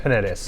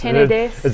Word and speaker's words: Penedès: I think it's Penedès. Penedès. There's not the sound that you get in Portugal. Yeah. So Penedès, which is an area within the Catalan region, or Catalunya.